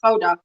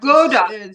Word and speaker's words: Gouda: Gouda. Yeah, we also say it like that, Gouda.